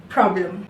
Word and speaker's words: problem: problem. The last syllable, the last vowel involved in the last syllable is not a. It is problem.